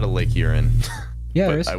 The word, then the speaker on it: Huron: Oh, Isn't Huron. Yeah. I thought you said urine. No, well, I mean, I think you could technically pronounce it that way, kind of like. You'd be wrong, but you could.